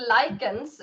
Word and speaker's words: Lycos: Lycos? How would you say, Kerstin? Yeah, I mean, Well, lichens is the word for wolf, like change the shapeshifter wolves.